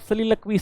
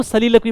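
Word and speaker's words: soliloquy: अगर देखा statement which is true about सलीलकवी। सलीलकवी जो होता है, इसको देखो सलीलकवी पढ़ते हैं, सोलिलोक्वी नहीं मत पढ़ना।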